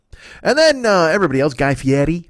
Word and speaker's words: Fieri: then everybody else Guy Fieri Fieri I know I think Mex makes fun of me when I say it like that but that's the way he says his name for